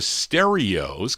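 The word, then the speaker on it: Sterios: And uh let's continue here for this group called the Stereos, but it's spelled kind of odd. S T E R I OS.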